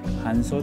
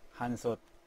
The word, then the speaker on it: Hansot: soy MongchongMan nuttymonkey bienvenido a MONKeyINGDOM hoy, voy a introducir Hansot (Jansot, la pronunciacion de español), la lonchera famosa en Corea